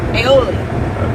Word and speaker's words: aioli: The aioli, Aioli. garlic aioli. I never can say it right. I always want to call it olei.